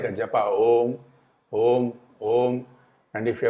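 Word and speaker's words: ॐ: Omkara is only 3 matra. Om. That is the right way to say omkara.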